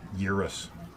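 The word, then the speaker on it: Gyruss: Urus, is that what uh Mike called it? Gaming Road Warrior. The G is silent. Urus controls and four-way.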